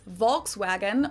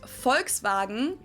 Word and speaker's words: Volkswagen: But even if we did go by the full name, it would be pronounced Volkswagen and not Volkswagen. So just imagine that it was spelled with an F and V instead.